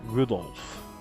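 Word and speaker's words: Rudolf: tell you that that mess of characters is pronounced Rudolph he must hate grandfather for giving him that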